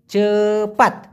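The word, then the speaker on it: cepat: কাজ করা সেটা হচ্ছে চেপাত চেপাত সি পি এ টি উচ্চারণটা হবে চেপাত চেপাত মানে হচ্ছে তাড়াতাড়ি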